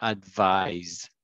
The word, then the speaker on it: advise: advise and advice and the differences in the pronunciation advice advice and advise vise yeah thank you okay